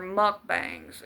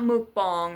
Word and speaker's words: mukbang: You wanted You wanted to keep doing your mukbangs. And it's not mukbang. It's mukbang. That's how it's pronounced.